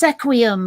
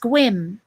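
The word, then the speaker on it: Sequim: Like it looks like it should be pronounced Sequium, but it's pronounced Squim, right?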